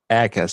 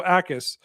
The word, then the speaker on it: Jacas: No, you Akis. So don't pronounce the J at all. It's fake. I'm going to call him Jacas. Jacas. Jackass. Jackass. No, so Akis.